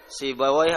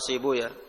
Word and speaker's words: Sibawayh: qawlu Abi Ubaidah wa Sibawayh atau Sibuyah. Katakan oleh Imam As-Suyuti, qiraahnya ahlul lughah, al-lughawiyun, mereka mengatakan Sibawayh. Kalau muhadditsin membacanya Sibuyah. Wa ayyan kana fa sahih, itu mau dibaca apa tidak ada masalah.